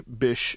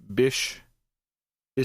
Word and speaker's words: Bysshe: his middle name the bish is spelled b-y-s-s-h-e so you might hear people pronounce it by she or bishi or whatever but i'm pretty sure